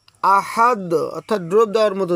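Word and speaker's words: أحد: হ্যাঁ, বা ত কফ জিম আর যদি দাল হয়, অর্থাৎ এখানে দাল যেহেতু রয়েছে তাহলে এখানে কলকলা করে পড়তে হবে। আহাদ, আহাদ, অর্থাৎ ড্রপ দেওয়ার মতো উচ্চারণ হবে।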